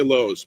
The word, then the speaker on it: Lowe's: that's spelled l o w how is that pronounced right you don't say la do you you say Lowe's but but here it's loud y I don't